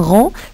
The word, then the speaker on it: rond: grand poids par exemple un rond ça s'écrit avec un dé à la fin si tu lettres muettes